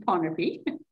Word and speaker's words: Pohnpei: um micronesian islands to panopy which i managed to spell in two different ways in different different place but it's pronounced ponaby it's based on a